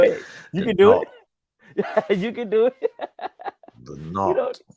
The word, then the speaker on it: Budenholzer: It's pronounced Go ahead. You can do it. You can do it. Budenholzer.